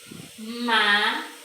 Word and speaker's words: mágico: Eu tenho aqui a palavra mágico. Mágico, mágico. Então, má é a sílaba que eu pronuncio com mais intensidade.